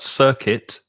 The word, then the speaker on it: circuit: she says what about circuit circuit yeah here though the first i is an er it's a long vowel sound er like turn or nurse nurse circuit circuit yeah